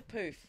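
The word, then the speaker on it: pouf: I didn't need the poof. Is it called a poof? Poof? I don't know. Well, it's spelled P-O-U-F. Is it? Poof. Yeah. Ah, it's French. Like French. French for poof.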